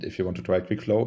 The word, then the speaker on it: QuikFlow: dot app right exactly it's like quick flow but without the C so how you would